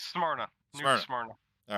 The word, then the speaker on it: Smyrna: Jamie, you're best with pronouncing stuff. It's Smyrna.